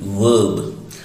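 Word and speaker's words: verb: और दोस्तों ये है तीसरा पार्ट ऑफ स्पीच जिसको हम कहते हैं वर्ब। और यदि किसी वर्ड में वॉवल के बाद आर है तो आर साइलेंट हो जाता है ब्रिटिश इंग्लिश में, तो इसलिए ब्रिटिश लोग जो हैं इसको कहते हैं वर्ब।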